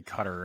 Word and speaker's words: Qatar: Yeah, no, I always say Qatar, but since we're on this podcast, I'll say Qatar.